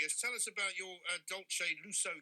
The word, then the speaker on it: Dolce Lusso: tell us about your adult shade lusso cakes am i pronouncing it right yes you are um i am a